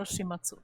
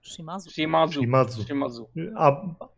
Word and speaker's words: Shimazu: Shimazu or Shimatsu? Shimazu. But I mean, is he like a C or Shimatsu No. or Shimazu? No. It's pronounced Shimazu in the show.